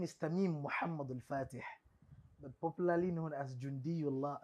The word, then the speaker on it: Mohammadul-Fateh: Da kuma, or you pronounce the full name for me? Okay. My name is Tamim Mohammadul-Fateh, popularly known as Jundiyullah. Let's take the name again. The name is Tamim Mohammadul-Fateh, but popularly known as Jundiyullah.